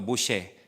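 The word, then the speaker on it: משה: 발음만 다르게 하면 모세가 되는 거예요. 모세. 그렇죠? 따라볼까? 모쉐. 모쉐. 그게 같은 단어입니다. 그렇죠?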